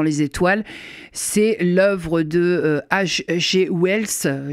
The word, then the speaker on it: Wells: C'est l'œuvre de H.G. Wells, je le prononce à la française, La guerre des mondes, paru aux éditions Gallimard.